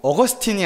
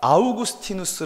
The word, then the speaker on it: 아우구스티누스: 발음해야 된다는 것이었습니다 그리고 어거스틴이 아니라 아우구스티누스 라고 발음해야 한다는 것이었습니다 그래서 기말 레포트 를